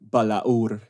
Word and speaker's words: Balaur: And I think, Gabriel, you've got the best pronunciation for it, going Tolkien style. Balaur.